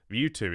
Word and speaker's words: Mewtwo: We got Lieutenant Surge's Pikachu, Mewtwo, Mewtwo is how you say that Pokemon's name.